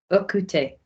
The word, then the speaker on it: écouter: Écouter. Écouter. Écouter. E acute, pronounced E.